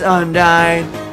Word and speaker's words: Undyne: Wait, is that nya or I don't know how to pronounce that. I said G next to an N. What does that mean? Yeah! It's Undyne with a great thing.